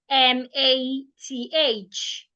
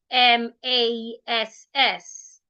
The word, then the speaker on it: math: Most people pronounce the word m a t h as mass. They pronounce it the way they should have pronounced m a ss. Some people would even say math like m a t.